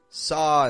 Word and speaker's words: saw: Because notice when I just said saw and la, notice I'm not making like a sow, low. I'm not rounding my lips and bringing them inwards. I'm actually only just making one motion. I'm dropping my jaw, keeping my tongue kind of low in my mouth, and I'm getting this ah sound.